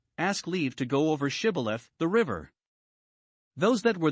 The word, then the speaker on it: shibboleth: but he denied it they made him say shibboleth but either he could not as our translation reads it or he did not not heed or frame or direct himself as some read to pronounce it a right but said sybileth and so was known to be an ephraimite and was slain immediately